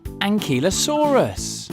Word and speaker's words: Ankylosaurus: Let's learn all about Ankylosaurus.